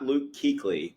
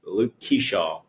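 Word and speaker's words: Luke Keaschall: Um, not Luke Keequley, Luke Keshaw. Keshaw is how it's pronounced it.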